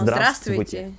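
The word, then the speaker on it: здравствуйте: Não, zdravstvuyte. Sim. Então, no princípio da palavra aparecem três consoantes juntos, sim? Zdravstvuyte. E depois no meio mais quatro.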